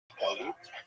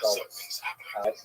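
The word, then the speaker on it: גלות: neutral concept, but the word exile in Hebrew, galut, or in the Ashkenazi pronunciation, galus.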